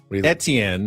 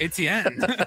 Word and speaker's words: Etienne: But obviously, it's more of a Southern pronunciation. Etienne. Travis Etienne Jr. Yeah. In the north, it's Etienne. But yeah, in the south, it's Etienne.